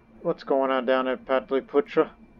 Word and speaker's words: Pataliputra: going on down at Pataliputra by the way that's correct pronunciation it's not Vitaly poacher it's partly Putra you know sanskrit pronunciations standard shorts should we